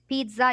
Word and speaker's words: pizza: Pizza, you will pronounce T, although there's no T.